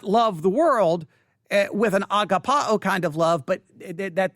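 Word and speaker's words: ἀγαπάω: because the email says agape and then and agapa oh and and okay so if i if i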